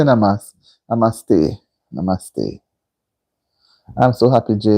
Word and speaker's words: namaste: So when you say namas n Oh namaste. Okay. Namaste.